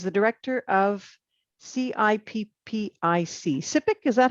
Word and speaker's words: CIPPIC: I'm very pleased to introduce David Fer who is the director of CIP PIC SIP. Is that how you would pronounce the acronym?